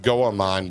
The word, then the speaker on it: Goemon: It's pronounced Goemon.